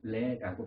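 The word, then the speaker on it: Lê: 우리는 이라고 쓰는데 그들은 레라고 발음을 한다고 해요.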